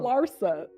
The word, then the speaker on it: Larsa: So, I think a lot of females Lissa Pimpin and them don't even You always say Lissa, but it's okay. It's Laura Larsa.